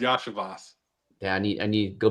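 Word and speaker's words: Iosivas: Andre Lovicious. Oh, Andre Yashavas. Yash. Yeah, that's an I. That's not an L. I know you think that's not an I. Is it? Yeah, it's an I. It's I, Yashavas.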